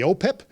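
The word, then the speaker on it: OHPIP: pandemic that we affectionately call the opip so it rhymes with cpip which is the the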